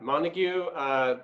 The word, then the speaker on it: Montague: Yeah, Montague.